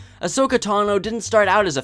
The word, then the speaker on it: Ahsoka Tano: Ahsoka Tano didn't start out as a fan favorite, and misspelling her name was like rubbing dirt in the wound. Her name is pronounced Ahsoka Tano, and spelled A-H-S-O-K-A-T-A-N-O.